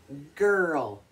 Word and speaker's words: girl: sound but not here no no here it's girl girl can you say it g-i-r-l girl you